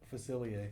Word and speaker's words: Facilier: Facilier.